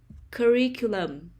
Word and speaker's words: curriculum: country music country music curriculum curriculum the stress is on the second syllable curriculum folk music oh